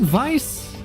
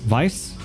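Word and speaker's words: Weiss: Is it Vice? W E I S S. Vice. Wait, I've always pronounced it as Vice cuz I'm that's how I always thought it's pronounced. I think that's how I've heard it pronounced as Vice.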